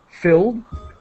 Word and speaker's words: filled: And so, oh, sorry, the 2 words I wanted to help you with pronunciation was filled, a D sound, very quick, filled, and promised, a T sound, very quick, promised.